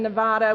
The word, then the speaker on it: Nevada: the ground shut up Ken you already lost Nevada for me once Nevada Ben what do we